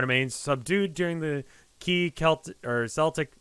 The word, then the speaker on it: Celtic: Crowd remains subdued during the key Celtic. I keep pronouncing Celtic. because it can be pronounced that way, but I don't think that's the way they pronounce it.